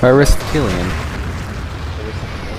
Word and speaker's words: Aristotelian: Aristotelian. That's how my philosophy professor pronounced it.